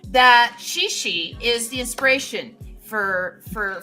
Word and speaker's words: Cixi: anti-foreign they uh they they have it spelled cixi yes and but it's pronounced shishi shishi y okay Shi